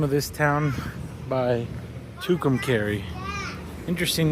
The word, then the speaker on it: Tucumcari: Found out you pronounce the name of this town by Tucumcari.